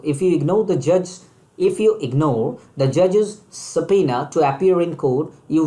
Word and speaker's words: subpoena: Let us talk about word number 9, and it's pronounced like subpoena. It's pronounced like subpoena.